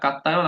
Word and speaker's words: কাত্যায়ন: এখন কাত্তায়ন খুব সম্ভবত বানান মানে উচ্চারণটা কাত্তায়ন, আর পতঞ্জলি এই দুজনের কথা আমরা বলবো।